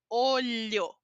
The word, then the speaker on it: olho: o período de chuva a letra l h a pronúncia É parece um l i parece mas a sua língua ela vai um pouco para fora da boca Lia olho olho pratiquem essa pronúncia olho